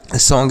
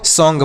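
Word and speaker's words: song: तो ये हो गया सॉन् क्या हो गया सॉन्ग इसे आपको सॉन्ग पढ़ना है एस ओ एन जी सॉन्ग ए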